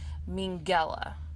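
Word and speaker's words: Mengele: as uncle mean and how you pronounce his last name is mean gala Oh Minghella so uncle Minghella AKA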